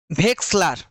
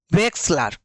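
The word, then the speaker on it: Wechsler: এটা হচ্ছে উচ্চারণটা হবে ভেক্সলার ভেক্সলার ওয়েলচার যেটা দেখতে পাচ্ছ সেটা ভেক্সলার এটা হচ্ছে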